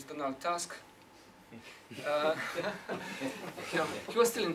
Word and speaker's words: Donald Tusk: now in Brussels uh pronounced this Donal Tusk uh he was still